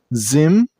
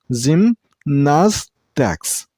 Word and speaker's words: gymnastics: This word has 3 syllables. Gymnastics. The last syllable isn't pronounced as ticks. It's ticks. And while you pronounce the word, stress on the middle syllable. I mean on nas sound.